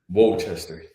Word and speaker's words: Worcester: So there's no R in Worcester. Did you know that? Really? No, there isn't, man. It's crazy to me. How do you spell it? I don't know, but it's no R in it, man. I'm telling you for sure. Worcester.